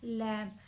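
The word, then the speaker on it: lamb: तो इस word लैम में जिस तरह बी साइलेंट लेटर है हम इसको लम लम बोलेंगे। बी इसको नहीं बोलेंगे। लिखा तो हुआ है लेकिन हम इसको प्रोनाउंस नहीं करेंगे।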